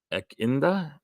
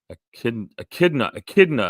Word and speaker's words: echidna: Joe, you got the platypus in Echinda. I'm not sure how to pronounce that. Echidna, I think is how that's pronounced.